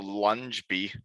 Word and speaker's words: Ljungby: Because that's what's in front of the lunge bee.